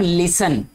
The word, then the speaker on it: listen: LISTEN, LISTEN. तो इसको पढ़ते हैं हम लिसन. ठीक है, लिसन केयरफुली स्टूडेंट्स. टीचर्स भी अक्सर बोलते हैं ये लिसन में कौन सा टी साइलेंट है बेटा जी.